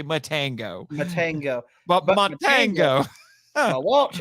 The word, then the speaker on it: Matango: It's not the first time that she has told that joke, but it is Matango. I said it wrong. It makes more sense if I say Matango.